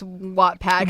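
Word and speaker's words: Wattpad: I need you to pronounce Wattad. I think you're saying Wad.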